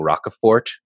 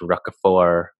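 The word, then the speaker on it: Roquefort: the french names wrong i kept saying rock a fort but it's rockefeller or there's no hard t no there's no hard t because it's french i guess and then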